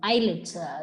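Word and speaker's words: islets: of Langer hens okay eyelids just the way you pronounce the island similarly eyelids of Langer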